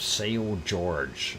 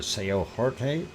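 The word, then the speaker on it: São Jorge: azores uh we are on the island of sao george uh or sao jorge and if you want to pronounce it uh in spanish uh but uh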